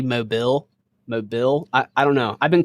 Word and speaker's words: Mobile: That's how you say it? Mobile. So funny, the way you said it is exactly the way they say we should say it.